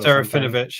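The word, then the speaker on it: Serafinowicz: I can't pronounce his, the guy with the long surname. Serafinovich. Serafinovich, yeah, that's it.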